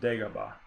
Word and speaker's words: Dagobah: a wallet open here I know I'm saying it wrong it's Dagobah apparently all right so here